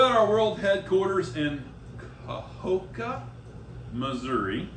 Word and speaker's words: Kahoka: So we're at our world headquarters in Kahoka, Missouri. How do you say that again? Kahoka. Kind of Yeah. like Keokuk. You don't put an L in it like Keokuk does?